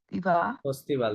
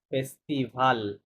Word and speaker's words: festival: Festival, ফেস্টিভ্যাল না, ফেস্টিভাল বলেছিলাম যে এখানে ভাওয়াল Festival. সিঙ্গেল এল থাকলে এটা অধিকাংশ ক্ষেত্রে উচ্চারণ করতে হবে.